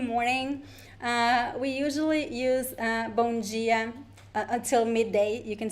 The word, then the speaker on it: dia: And pay attention to the way I pronounce the word dia. So this is the most common pronunciation in Brazil. However, there are other variations. In some places, people would say dia, bom dia. So it depends. The most common one is dia.